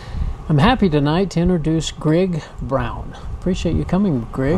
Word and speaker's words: Grigg: lot yeah yeah it's greg rhymes with big and so well it's